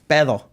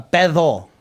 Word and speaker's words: pedo: Yeah, I was say it is spelled P E D O. But you sp You say the D like a th.